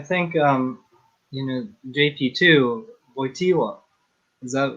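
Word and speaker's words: Wojtyła: yeah i think um you know jp2 voitiwa is that how do you say it yeah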